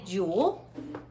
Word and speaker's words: joule: to you and it's called a jewel and it's spelled j-o-u-l-e and it's list after the